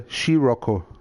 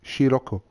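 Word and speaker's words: Scirocco: bloody foreigner right uh the car is called a shiroko not c it's she shiroko austrian bavarian boris yeah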